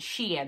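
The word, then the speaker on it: Shein: if anybody has wondered the s-h-e-i-n is pronounced Sheen they sent me a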